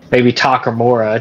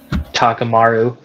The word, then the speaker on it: Takamura: fighting instincts, you know, maybe Takamura, just Takamaru. I'm gonna get flamed about that again, man. They're gonna be like, dude, you should say it right one of these days.